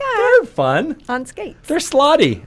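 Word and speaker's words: slaadi: fun on skate there slotty is what I found out that's how you pronounce them I went out you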